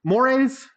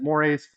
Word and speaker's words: mores: All right, mores, that's how you pronounce it, mores.